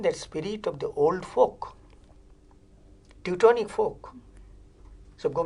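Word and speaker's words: Volk: ok in German language it is spelt as V o NK folk this folk concept is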